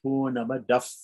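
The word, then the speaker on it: पूर्णमदः: When it comes before those, it's pronounced like an F. So purnamada, like that. So because purnamidam starts with P, and we have a visarga at the end of purnamadaha, right? So it becomes purnamadaf, right?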